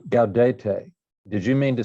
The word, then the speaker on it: Gaudete: C's are hard before A, O, U, and AU, like Cattolica. And by the way, well, we'll get to that. Maybe I should have done syllables first. But anyway, Cattolica, okay. Gaudete, those are hard C's and G's.